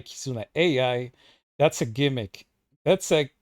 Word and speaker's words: Kizuna AI: you to my friend kusana K pronounced wrong is another AI powered digital and completely wrong the the AI part kizuna I kizuna AI That's a gimmick that's